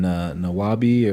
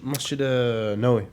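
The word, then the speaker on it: Masjid Nabawi: Going to the I can never pronounce that masjid's name. It starts with an N, Nawabi or something like that. Oh, Masjid Nawawi.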